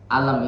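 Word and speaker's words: ألم: Maka di situ hamzahnya dia dinambarkan, dia ditekan supaya tidak disangka alam ini termasuk satu kata. Jadi dibacanya lebih ditekan di hamzahnya.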